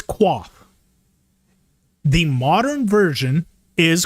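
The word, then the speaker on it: coif: __ ] okay it's qua the modern version is koif but it's pronounced qua that is the original sound I will say qu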